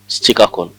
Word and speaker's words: Chicacole: French used to call Srikakulam as pronounce Chikakol.